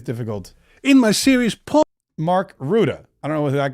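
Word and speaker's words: Rutte: Ruda. Oh, that was not nearly as that was not nearly as difficult in my series. Mark Ruda.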